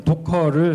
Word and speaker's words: Docker: 어 그래서 시작이 됐고요 오늘 그이이 단어를 어떻게 발음을 해야 될까 지금 계속 세미나를 듣고 있는 중에 라는 분도 있고 커라고 하시는 분도 있고 커라고 하시는 분도 있어서 저는 독일식 발음인 도커를 사용하도록 하겠습니다 여기 지금 보면 고래